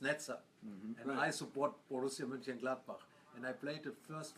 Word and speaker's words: Mönchengladbach: My first club in Germany, Borussia Mönchengladbach.